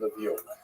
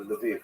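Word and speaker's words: Lviv: So this is in the western part of Ukraine not too far from Levie or Leviv as it's pronounced now.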